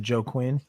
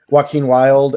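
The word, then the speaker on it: Joaquin Wilde: Is it Joe Quinn? Chase, Yeah, is it, those are the ones I butchered their names. Joaquin Wild and I just want to point that out real quick.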